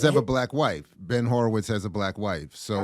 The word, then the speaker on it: Horowitz: But so the connection to this story, again, Horowitz is how you pronounce it, Jared? Horowitz. So Van on the couch